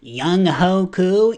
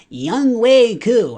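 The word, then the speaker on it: Younghoe: are like oh Vic it's actually not pronounced y hu it's young way I'm aware after free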